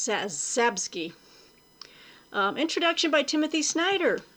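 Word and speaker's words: Czapski: ski so but uh you got the cz so it's sabski um introduction by timothy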